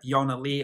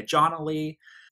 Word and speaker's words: ionnalee: under her own name Jana Lee although she spells at i/o and na to pronounce it the way it's supposed to be pronounced in Swedish so that people don't say John le and this is following